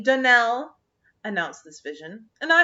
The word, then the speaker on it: Donnell: of our name is danelle accent on the last syllable i hope you'll remember